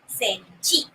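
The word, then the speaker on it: センチ: And centimeter, they cut off half the word. It's only the centi part, but they pronounce it as senchi.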